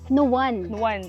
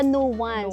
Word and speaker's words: Nuan: sablang Babay Okay so ang dapat palang pron pronunciation is nuan okay hindi siya no one So no one kaya